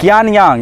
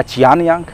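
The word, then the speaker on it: 杨倩: सी को कभी क से भी उच्चारण होगा, CH को, और कभी च से भी होगा।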